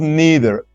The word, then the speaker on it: neither: movie, nor did I, neither did I. All right, so they are somehow the same. Neither is usually pronounced neither or neither. Okay, it has two pronunciations, so don't be surprised.